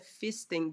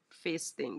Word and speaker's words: feasting: together okay i think i think i am pronouncing as a fisting but i should be pronouncing as face thing like for me they